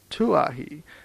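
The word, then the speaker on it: Kawaihae: In due course of time our journey came to an end at Kwahi, usually pronounced Tuahi, and before we find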